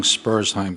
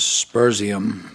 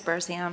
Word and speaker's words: Spursheim: Jen, great job pronouncing Spursheim Street. Her initial attempts were a little different than Spursheim. I think it was Spursium, but Was Spursheim. you yes, finally, yes. you got it right.